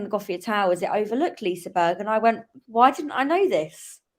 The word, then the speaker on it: Liseberg: Yeah, it's just Liseberg. Everyone pronounces it differently.